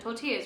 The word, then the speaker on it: tortilla: Also, been saying quesadillas and tortillas wrong my whole life. I was pronouncing them with L's when I lived in Australia.